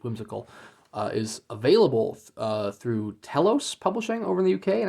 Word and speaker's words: Telos: that is that is Telos with a e if I'm pronouncing that correctly t-e-l-o-s not to be confused with Talos t-a-l-o-s which is US publisher that published